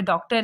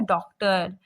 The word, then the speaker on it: डॉक्टर: तो और ये जो डॉक्टर है इसमें जो ये लगा हुआ है चांद के जैसा, इसका उच्चारण औ के जैसा होता है, ठीक है, डॉक्टर, ठीक है।